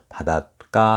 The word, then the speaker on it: 바닷가: 바닷가 하잖아요. 까로 발음되죠. 바다인데 원래 바다 가잖아요. 가가 까로 발음된다는가.